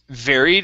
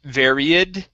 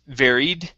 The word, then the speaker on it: varied: Then we've got the word varied instead of varied. It's varied. Varied.